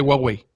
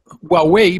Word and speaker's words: Huawei: cámaras dices dices gua yo digo Huawei porque una vez le escuchado un chino hablar y dijo Huawei vale eh Y después